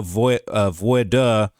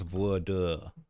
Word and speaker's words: voir dire: Said also to offset prejudice, the court will use a voir dire. Let me make sure I'm saying that right. Pronounce voir dire.